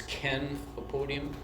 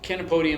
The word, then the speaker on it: Chenopodium: I always remember this one because it's Kenopodium. So CH in botanical terms is always pronounced hard, like kid or Ken. So Kenopodium is one of my favorites.